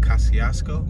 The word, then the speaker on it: Kosciusko: But the C is silent and I think the U is silent. Kosciusko?